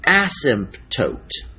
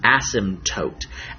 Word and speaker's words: asymptote: name it's called an asymptote notice I pronounced the P usually we don't say the P this isn't asymptote asymptote an asymptote is a